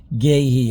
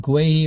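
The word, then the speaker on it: Guéhi: It's Chris back with a bit of a thought of the day really and it's all about Mark Gayhei or Mark Guy, whichever way you want to pronounce.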